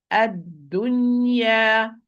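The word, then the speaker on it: الدنيا: In both, the tongue must be in the complete relaxation, in the rest position. In the rest position, and open the mouth vertically. No smiling position. No smiling position. So properly, ad-dunya. When I pronounce the fatha and the natural mad alif, the tongue in the rest position and open vertically.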